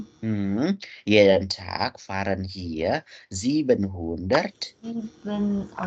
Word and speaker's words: jeden: Jadi setiap harinya, jeden Tag bacanya jeden Tag. J dibaca Y.